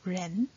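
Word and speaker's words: 人: the Chinese character for human or person it's pronounced as Ren from the small seal script we can see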